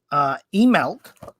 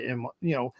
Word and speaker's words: Imbolc: So Imbolc, aka Candlemass, aka Brigantia, aka Imbolc. That's how this is the pronunciation they have here.